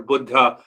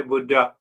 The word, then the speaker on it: Buddha: Here in America, we say Buddha. Buddha means old, like me. But Buddha, the word is pronounced as Buddha, means awakened.